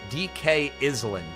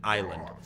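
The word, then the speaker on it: DK Isle: I did not learn until I was about 10 that you pronounce it island. I thought it was Donkey Kong Island. I mean, how would a 5-year-old know that the S is silent?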